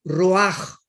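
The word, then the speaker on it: רוח: Y aquí la palabra espíritu es la palabra roach, con CH, porque la CH en el hebreo se pronuncia como J, roach.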